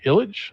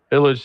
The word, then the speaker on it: Illg: The bill by Harahan Representative John Illich, I believe is how you say his name, ILLG.